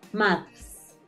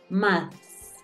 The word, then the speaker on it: maths: Vas a coger la página, vas a pronunciar y mucho cuidado con la TH. Escucha cuando dicen maths. Maths.